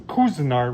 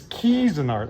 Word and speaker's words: Cuisinart: I actually had somebody say that I'm pronouncing Cuisinart wrong. It's Cuisinart.